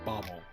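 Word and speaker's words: Bawel: But according when we Googled it, it said pronunciation is Bobble.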